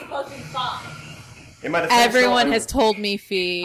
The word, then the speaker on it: Fi: The fabulous No one knows how to pronounce Graham Cracker. Let me read the character and it's fucking fine.